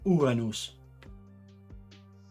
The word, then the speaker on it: Uranus: I could say it in Latin, Uranus.